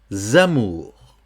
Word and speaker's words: amours: Ici, dans le cas du S, c'est un cas aussi un petit peu exceptionnel. Il faut le prononcer comme si c'était un Z. Donc, et nos amours.